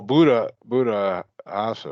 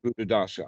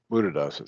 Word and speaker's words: Buddhadasa: Well, Buddha Asa, right? Is it Bhikkhu Buddhasa? Am I pronouncing that right? He Yeah, Bhikkhu Buddhadasa. Uh-huh. Buddhadasa. There we go. Buddhadasa.